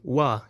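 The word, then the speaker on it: 我: Without getting too technical, the word wa, meaning I, me, can be pronounced with a high tone wa in wa shi pigok lang, I'm American, but also with a falling tone wa in I kai wa, he likes me.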